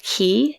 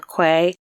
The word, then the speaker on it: cay: use the term c-a-y which is pronounced key usually but sometimes pronounced like k or quay but yeah over time